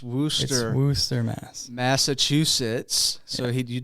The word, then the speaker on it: Worcester: us by way of Worster Worcester massachusett we've had this debate uh he says it's Worcester I I it's it's pronounced Worster Worster Mass Massachusetts so